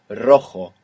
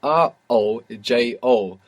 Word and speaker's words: rojo: This is spelled R-O-J-O. And J's in Spanish are pronounced J, like this. Rojo. Rojo. And we have the initial R. So if you can do it, it will be the rolling R.